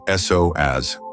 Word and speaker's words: psoas: Its name is the psoas, pronounced s-o-a-s.